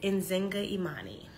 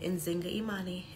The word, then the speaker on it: Nzinga Imani: I pronounce it Nzinga Imani. Now, I will say this. Nzinga, I was named after an African queen, and it is a translation. So some people spell it much differently and therefore pronounce it much differently. Some people replace the Z with a J.